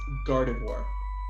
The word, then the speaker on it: Gardevoir: It's Gardevoir. Gardavore.